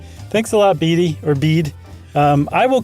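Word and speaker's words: Bede: Anyway, uh, as I am named after him, I can assure you that the pronunciation of his name is the same as Bead.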